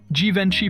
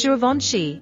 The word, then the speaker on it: Givenchy: Givenchy perfumes are amazing. Nope. It's Givenchy, because it's French.